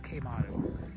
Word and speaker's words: Quemado: Mexico so we uh it's spelled with Cube but it's K motto anyway just uh wanted